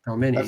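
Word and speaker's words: pelmeni: Oh, it's spelled pelmani, apparently. Palmeni. how it's pronounced.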